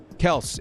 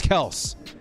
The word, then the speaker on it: Kelce: Kels. It's Kels.